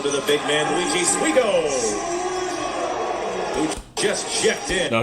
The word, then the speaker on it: Suigo: Suigo, that's how you say it.